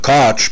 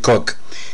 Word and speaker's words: Koch: them but karen cook in canada some of the pronunciation is uh koch but she pronounces it cook is a american-born former